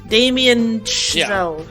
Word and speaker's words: Damien Chazelle: Damien Chazelle.